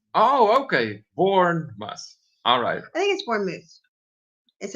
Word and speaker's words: Bournemouth: countries so far well hold on a minute it's pronounced Bournemouth oh okay born bus alright thanks one is